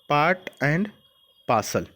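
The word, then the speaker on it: part and parcel: एक चीज़ देखिए, ये आर का प्रोनाउंसिएशन नहीं करते हैं ना, पार्ट एंड पार्सल।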